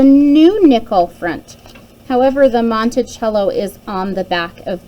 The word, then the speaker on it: Monticello: We pronounce it Monticello.